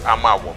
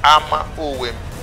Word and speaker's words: Ama Owem: Now, I will explain more that his compound was Ama Owem, which is all mispronounced today as Amawom, but it's Ama Owem.